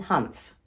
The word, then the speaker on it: Hanf: see the label there you go zelba palin humph and uh this one is called zomapalan humph because humph means hemp in english it's humph is a german word for hemp in english